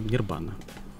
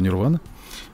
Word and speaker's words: нирвана: По-палийски, правильно, нирбана. Правильно говорю, Паш? Правильно говорю. Серьезно? Да. Я всю жизнь говорю нирвана. Вот пришел Капров и обрушил мою жизнь просто. Почему нирвана-то? Так пишется, и так и читается. Нирвана. А нирвана это уже наш европейский язык.